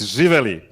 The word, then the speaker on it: Živeli: Okay, first of all, it's Živeli. Živeli. Okay, Živeli. nobody here should be able to Živeli. pronounce that. Say it again. Don't make it long. It's Živeli. Živeli. So there's like a different emphasis.